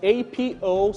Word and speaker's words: apocryphal: the word is spelled a-p-o-c-r-y-p-h-a-l of questionable authenticity as in the story or statement locals we want to pronounce it as apocryphal please listen to these